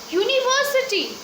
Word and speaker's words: university: Here, university. Though it starts with the vowel U, but it pronounces Y.